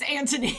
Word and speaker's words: Anthony: If you're not following Anthony Hopkins, go and do it now. I thought you said it was Anthony. It is Anthony, but us Americans love to pronounce the TH because we can.